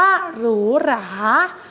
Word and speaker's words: หรูหรา: ไม่ แท้ เก่ง มาก เรา มา ดู คำ ที่ สอง คำ ว่า หรูหรา หรูหรา คำ ควบ กล้ำ เป็น หอย หยิบ กับ ตัว รอ เรือ พยัญชนะ ตัว แรก เป็น หอ หีบ หอ หีบ เป็น อักษร นำ หรือ เป็น คำ ควบ